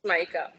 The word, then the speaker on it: Smaïka: C'est bien comme ça que ton prénom se prononce, pardon? Oui, en Smaïka. effet, Smaïka.